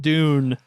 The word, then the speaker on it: Dune: spelled with four letters what d it rhymes a boon yeah oh dune oh yeah i i